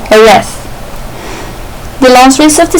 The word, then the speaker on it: Jerez: At the 1997 European Grand Prix at Jerez, that's how you pronounce it, you don't say Jerez, you say Jerez.